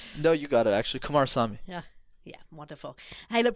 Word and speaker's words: Kumarasamy: And so you give us the correct pronunciation of that before we finish. No, you got it, actually. Kumarasamy.